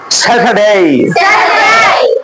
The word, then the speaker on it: Saturday: যেমন স্যাটারডে, আগে আমরা কি বলছি? স্যাটারডে। এই যে আরটা আছে, আরটার উচ্চারণ হবে না। কেন হবে না? আর এর পরে যদি কনসোনেন্ট থাকে তাহলে ওই আর এর উচ্চারণ হয় না।